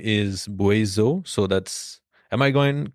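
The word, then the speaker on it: Buaisou: had just gotten from them the name is boizo so that's am i going to even spell that yes maybe yeah well if not b-u-a-i-s-o-u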